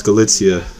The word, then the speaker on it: Galitzia: in in chov galitzia he couldn't even pronounce galitzia he said Gala or something I don't know so